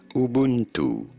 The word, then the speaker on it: Ubuntu: How do you go about pronouncing it? Ubuntu.